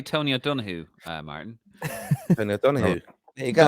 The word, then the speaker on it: Tony O'Donoghue: Tony O'Donoghue.